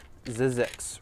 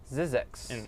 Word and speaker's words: Zzyzx: It's ZZX Road. It's actually a town. ZZX. How do you spell it?